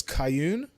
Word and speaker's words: Kayun: So it's Kayun, rhymes with moon.